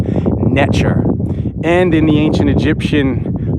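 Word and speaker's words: netjer: It's NTR, and the T has a ch sound, so it would be pronounced Netcher.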